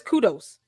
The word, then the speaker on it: kudos: The word is kudos. Kudos. Kudos. You got to break it down. It's 2 syllables.